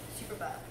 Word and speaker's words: superba: It's spelled like super and then B-A. Superba.